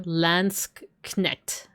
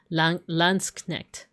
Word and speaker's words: Landsknecht: It's hard for me as a Bear American to like say the K and N without having like some kind of connector syllable, like connect, you know? But I think it is like there is no syllable in between.